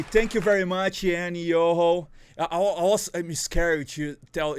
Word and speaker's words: Iyoho: your home ok thank you very much and yo ho our awesome scary to tell you pronunciate your name correctly did I say correctly